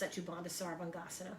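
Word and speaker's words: Setu Bandha Sarvangasana: is a great pose in sanskrit it's uh pronounced sachibanda sarvangasana bridge pose so uh with the knees bent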